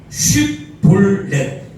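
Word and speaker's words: שִׁבֹּלֶת: 한번 곡식 이삭 곡식 이삭 쉬에다가 비웃써야 됩니다. 쉬볼렛 다 같이 시작 쉬볼렛 오늘이 발음 잘하셔야 돼요.이 발음 잘못하면 에브라임 사람인 줄 알고 사람 죽여 버려요.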